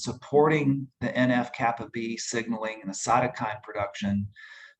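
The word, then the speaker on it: NF-κB: affects supporting by the nf dash i think it's k to b is that right tracy that's how you pronounce that that would be kappa b yes kappa b nf kappa b so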